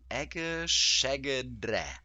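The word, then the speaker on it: egészségedre: We stress on the first syllable. Egeszegedre.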